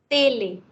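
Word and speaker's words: télévision: Tele, not tele. Television. Television.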